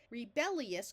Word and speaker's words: rebellious: and an o rebellious just like this word up here ingenious tends to sound more like three syllables with the I taking on almost the sound of a y the same thing happens here rebellious quickly turns into sounding like rebellious here we divide between